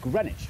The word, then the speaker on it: Greenwich: east london suburb of greenwich where you don't pronounce the w or one of the e's and right here is